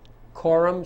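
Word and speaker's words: coram: RIT of error Corum nois RIT of error Quorum spelled c o r a m and the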